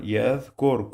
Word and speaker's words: يذكر: The sound of TH in the word the. You must use your tongue to touch your upper teeth to pronounce it.